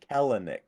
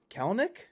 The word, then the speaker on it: Kelenic: verbally correct you sure his name is helnick not kalanick what do you mean elmick kelnick who sell two syllables kelnick no Helen Nick